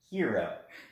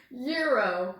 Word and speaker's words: gyro: something different here i got a hero gyro gyro not a gyro not a giro no you guys are gonna have to watch like brian's a hero yeah brian has a video on this how to say it i actually graduated and passed my class in greek it's a hero anyways um but it